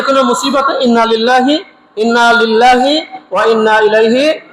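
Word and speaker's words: إنا لله: লিল লরশিল কি হয়ল নাকি নল সঠিক উচ্চারণ কি আমরা ভুল করবো না এটা বলব কি ইন্নালিল্লাহি ইন্নালিল্লাহি ইন্নালিল্লাহি ইন্না ইল্লা ওয়া ইন্না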